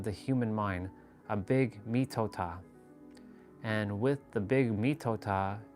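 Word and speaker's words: mitote: Your whole mind is a fog, which the Toltecs called a mitot, it's called mitota. Yeah, mitota, that's how you say it.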